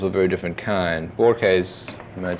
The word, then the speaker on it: Borges: I guess you know that I did a book of interviews that was published years ago with Jorge Luis Borges, or Borges would be the American pronunciation of it.